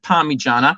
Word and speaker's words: Parmigiana: You pronounce it Parmigiana. It's spelt with an I.